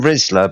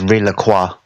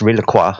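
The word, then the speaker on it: Rizla+: heard about that we call them rizzla but that's not actually my name their name is rilaqua you know it's at the end of the Rizzo you've got a cross you're supposed really it's pronounced across yeah it's real Aqua it's French they're French papers you learn something new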